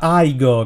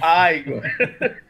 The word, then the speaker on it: Igor: Si pronuncia Igor, ricordalo. Igor.